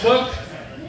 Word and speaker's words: Cook: It's pronounced Cook.